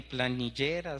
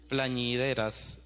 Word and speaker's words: plañideras: otros evangelios que había unas se me olvida pronunciarlo bien planillera so plañideras plan y verás eso gracias entonces serán las